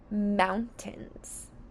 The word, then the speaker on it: mountains: And we hear a short I, but in this case it's spelled with the vowel team AI.